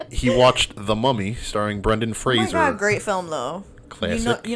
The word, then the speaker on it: Fraser: The Mummy starring Brendan Fraser great film though classic you you know I love that film classic it's a good film and just for the record it's pronounced Fraser not Frasier do you think that's